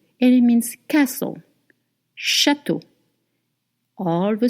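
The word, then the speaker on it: château: Whenever you will see a spelling in a word with E A U, it will always be the sound o.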